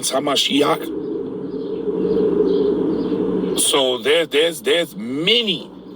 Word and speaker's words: HaMashiach: is Anointed or oil so they're against the hamashiach that's how you say it in Hebrew so